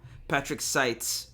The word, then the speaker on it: Patrick Seitz: Yeah, Patrick Seitz. All right, I said it wrong. Patrick Seitz.